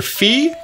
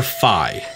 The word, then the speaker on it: Fi: Her name is either Fee or Fi, and I've heard it being pronounced both ways, and I'm not here to say that one is right and one is wrong. Even though I know that I want to say Fi, like Wi-Fi or Fee-Fi-Fo-Fum or something like